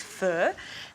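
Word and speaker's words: pho: similar to a fur it's actually spelled faux p h o but the correct way to say it I've been told is fur and it is one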